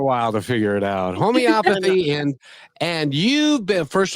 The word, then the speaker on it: homeopathy: But Abby, why can't I say homopathy? It's not homo. It's homeopathy.